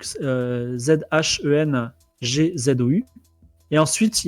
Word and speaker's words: Zhengzhou: Et le billet est au nom de Giovanni Telkmar pour une destination en Chine qui s'appelle alors il faut que je le prononce bien, Chengzhou, donc Zhengzhou.